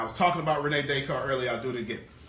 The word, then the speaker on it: Descartes: to have now I was talking about Rene Descartes really I'll do it again Rene Descartes the